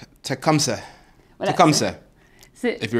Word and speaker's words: Tecumseh: J'essaye de le prononcer, mais c'est tout comme c'est. Tecumseh.